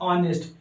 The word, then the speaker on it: honest: लोग बहुत सारे ऐसे स्टूडेंट्स हैं जो इनका अच्छे से प्रोनाउंसिएशन नहीं जानते हैं, इसका सही प्रोनाउंसिएशन होता है ऑनेस्ट, ठीक है, HONEST।